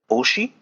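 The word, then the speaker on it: 推し: youtubing streaming these days one of them is Oshi it's spelled as OS Shi it basically just means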